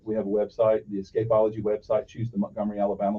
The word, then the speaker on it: Escapology: into the price so so it's it's escapology escapeology that's how it's spelled e-s-c-a-p-o-l-o-g-y okay ology so don't put that e on you yeah no no don't put the E on the Escape after uh after that